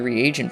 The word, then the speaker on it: reagent: Zulgold from now on would only sell to non-repair vendors, and he started going to the reagent vendor, and yes, I realize now it's pronounced reagent.